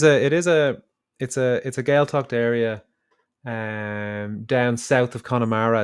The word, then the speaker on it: Gaeltacht: If I had to learn the phonetics, but yeah, Gaeltacht is how we would pronounce it in that, because obviously prototonic, which means emphasis is on the first syllable, and then when you